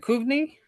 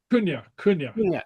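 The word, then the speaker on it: cuimhne: Because MH is V, so yeah. It doesn't have any of the letters that I'm expecting. Kunya. See, so the MH is kind of silent.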